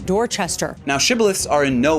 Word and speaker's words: Dorchester: But calling this town Doster will reveal you to be a newly arrived foreigner who mistakenly thinks they've got the hang of things because this one is indeed just Dorchester.